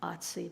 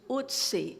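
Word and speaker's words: Ötzi: they just named him Otzi, but that is an American pronunciation. Kate, go ahead and tell me how he... It's Otzi if you're German.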